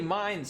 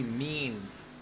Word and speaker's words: Means: And made a mistake there in how I pronounced that. It should be Joey Means.